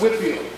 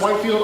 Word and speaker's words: Whitefield: Now yes, I know it says Whitefield, but it's pronounced Whitefield. Also sometimes pronounced Whitefield, also spelled sometimes with an E, sometimes not spelled with an E.